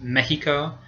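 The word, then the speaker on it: México: in Mexico it's pronounced Mexico, so you get that h sound.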